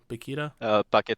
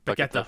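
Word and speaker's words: Paquetá: Like, was it pronounced Paquita? Paqueta Paqueta, from that's right.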